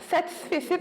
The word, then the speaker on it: satisfecit: Satisfecit, il faut prononcer le T de la fin, même s'il n'y a pas de E.